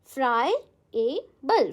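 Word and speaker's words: friable: फ्राइबल कैसे pronounce करोगे आप? फ्राई। ठीक है? ए बल। ऐसे ही ब्रेक करके याद करो। फ्राई ए बल।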